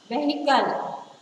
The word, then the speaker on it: vehicle: And the last one, vehicle. V-E-H-I-C-L-E, vehicle. V-E-H-I-C-L-E, vehicle. So the letter H is again silent here.